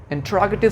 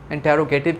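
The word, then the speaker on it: interrogative: हाँ, ये जो वर्ड है इंट्रोगेटिव होता है, हम उसे इंटेरोगेटिव कहते हैं, इंटेरोगेट कहते हैं, ये नहीं है, इट्स इंट्रोगेटिव। Okay, इंट्रोगेटिव, the right pronunciation of this very word.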